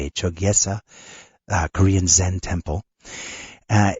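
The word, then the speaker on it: Chogyesa: uh for anybody that's interested check it out it's spelled c h o g ye s chesa uh Korean Zen temple uh you've had that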